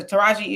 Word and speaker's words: Taraji: You ain't gonna say her name right at all. Like, say it with me. Taraji, Deontay, Chiquaqua.